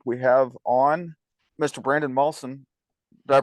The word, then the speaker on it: Malson: and this week we have on Mr Brandon mson did I pronounce that right it is that was good